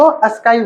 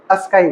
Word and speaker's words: ASCII: Sky code का जो pronunciation है वो क्या है, आस्क ई डबल ई, ठीक है। इसको अस्काई बोलते हैं, क्या बोलते हैं, अस्काई बोलते हैं वैसे, ठीक है।